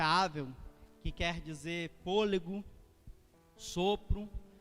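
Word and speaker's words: הֶבֶל: E Abel, no hebraico, é Avel, ou Ebel, mas a pronúncia Avel, que quer dizer fôlego, sopro, vaidade, passageiro.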